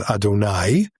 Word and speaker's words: Adonai: In Hebrew, in Orthodox tradition, it becomes Adonai, Okay. which literally means my master, Okay. because we're not trying to pronounce that word.